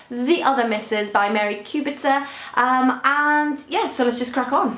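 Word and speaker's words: Kubica: Several years ago, I read a book by Mary, and I think the pronunciation is Kubitzer. I researched the name on Google, so I think it's Mary Kubitzer.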